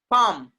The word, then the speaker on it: palm: Palm. Palm. Palm. LM are coming together. L will be silent.